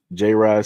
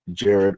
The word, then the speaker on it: Jared: It's not J-Rod SEIJI, it's pronounced Jared with a D.